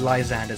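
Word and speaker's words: Lysandre: teammates right uh liander LeAndre is how I pronounce it honestly but everyone else says Li anded so I started joining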